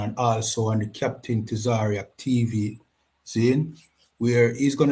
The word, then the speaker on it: Tazaryach: Tzar Tzar Ariak. Tzar Ariak. For those who For those who mispronounce it, like What It You know,